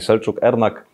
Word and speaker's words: Selcuk Ernak: Przed nami Selcuk, Ernak. Hello, coach. Hello. Did I pronounce it well in Turkish?